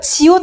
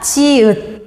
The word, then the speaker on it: 지읒: 근데 가끔 얘 이름 지읒이잖아요. 지옷이라고 하는 친구들 있더라고요. 지옷 아닙니다. 지읒.